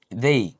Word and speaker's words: they: They, essa é a pronúncia do they. Olha aí, they, a mesma coisa que falar assim, eu dei.